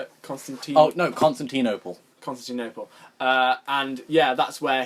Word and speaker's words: Constantinople: Constantinople.